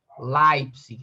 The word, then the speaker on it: Leipzig: Leipzig, L-E, aí tem o som de A.